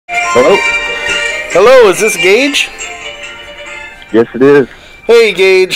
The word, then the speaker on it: Gauge: little bit scared that I would say your name wrong. It's Gauge. It's Gauge. Yeah. And so we let Tommy do it. I wanted to say Gauge.